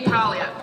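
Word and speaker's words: Paglia: producer and fellow tan with a silent G in his last name Jamie Pia you and I know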